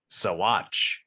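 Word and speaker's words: Saguache: But also, according to the sheriff's department of said city, it's pronounced Sawatch.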